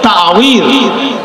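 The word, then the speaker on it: تعويذ: আউযু মানে পানা, ওখান থেকে তাওয়ীজ, অ্যাকচুয়ালি তাবিজ নয়, উচ্চারণ হচ্ছে তাওয়ীজ। আওয়াযা ইউআউযু তাওয়ীজান, বাবে তাফঈল থেকে এসেছে।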